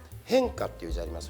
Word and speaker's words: 変化: タイトルはですね変化っていうありますよね変化変化の人って書いて宗教語で言うと変化のことを変って読むらしくてえ変の人